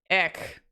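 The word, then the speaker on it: Eyck: Hubert and Jan van, I don't know how to pronounce that. Ick? It's E-Y-C-K. Eck.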